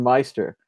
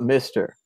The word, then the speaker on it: Meister: Oh, Adam Meister, the Bitcoin Meister, not Mister, the Bitcoin Mister.